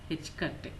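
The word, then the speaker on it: ħ: This is pronounced as H cut.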